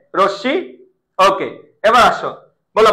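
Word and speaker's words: রশ্মি: র সাথে একটা আছে র সাথে একটা কি আছে অ আছে এর পরের বর্ণ রস্বীকার আছে এর পর কার চিহ্ন থাকলে উচ্চারণ হবে তাহলে কি হবে র তাহলে কি হবে রশি এই স এর উপরে একটা চন্দ্রবিন্দু রশি র পারা যাচ্ছে রশ্শি ওকে এবার আসো বল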